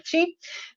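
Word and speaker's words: qi: To jest to, co macie tutaj jako ki zapisane. Ki to jest wymowa z naleciałością japońską. Po chińsku mówimy ci.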